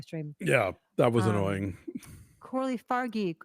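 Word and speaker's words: Coralie Fargeat: yeah that was annoying Corley fargi I'm like wait a minute am I losing my mind have I been say it wrong all long everything I've ever heard is French right so um that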